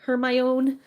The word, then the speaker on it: Hermione: I I we all pronounced Hermione wrong. Hermmo. It was Hermmon or Hermion. Hermione.